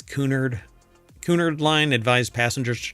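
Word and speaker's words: Cunard: I don't think it's pronounced Connor, right? It's Kunard.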